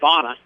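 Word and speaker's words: Danach: bona on the carry pronounced bona spelled d-a-n-a-c-h we thought the knock when we had we asked and his bonnet forget the c-h on the n-b-a-n-a would be the phonetic phonetic spelling of it in the event adam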